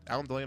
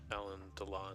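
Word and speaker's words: Alain Delon: think this Alan Delane, is it Alan Delane or Alan Delon? Alan Delon. I always pronounced it like rhyming with Celine Dion, which I don't know if that's true.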